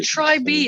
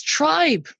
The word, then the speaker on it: Trybe: everyone's kind of got try be it's tribe foolish of me wow it's only spelled like that because I couldn't get the end the domain name with an eye is kind of nice